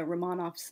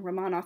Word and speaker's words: Romanov: 100th anniversary of the romanovs assassination in um 2018 by the way on Romanov is the proper Russian pronunciation Romanov is in English um mispronunciation I realize Romanov is